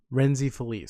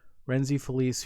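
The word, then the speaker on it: Rhenzy Feliz: forget how to say his last name Rene reny Feliz sorry I was saying it wrong renzy Feliz who plays Vic he was on an interview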